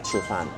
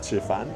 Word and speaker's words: 吃饭: So in Mandarin usually when you say let's eat rice, you say 吃饭. So I think because they couldn't pronounce the N at the end of 吃饭, so that's why they call it Chifa here in Peru.